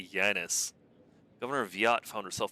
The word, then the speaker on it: Janus: Isn't it pronounced Janus? Like anus? I know. I'd rather call it like Janice.